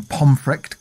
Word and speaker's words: Pontefract: and died mysteriously in pomr Castle now this is spelled pontefract p o n t f r a c t but because it's Yorkshire it said funny and that happened in